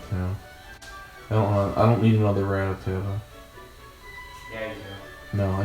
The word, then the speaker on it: Rattata: You know what I'm naming the Rattata? It's pronounced Rattata.